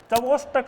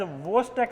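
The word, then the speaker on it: Chvostek: I think सब ने पढ़े हुए होंगे ये, ट्रोसियस साइन, चवोस्टक साइन। चवोस्टक नहीं होता, is known as वोस्टक sign. CH silent होता है इसमें।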